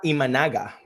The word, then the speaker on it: Imanaga: The Rays luckily get to miss Shota, I don't know how to pronounce his last name. Shota Imanaga.